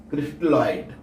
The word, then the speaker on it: crystalloid: अंग्रेजी में क्रिस्टलॉइड होता है। क्या होता है? क्रिस्टलॉइड। ये प्रोनाउंसिएशन रहेगा इसका क्रिस्टलॉइड। वे पदार्थ जिनके विलयन पार्चमेंट